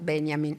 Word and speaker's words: Benjamin: El primero es Walter Benjamin, en Italia lo pronunciamos a la alemana, en España no, según el cual, cito, el despertar es el caso ejemplar de recordar.